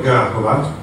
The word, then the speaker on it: Grahovac: E questo, facendo pressione sul ministro della cultura e dello sport Gavrilo Grahovac, la C così si legge C, quando è senza accento si legge Z, praticamente ha fatto un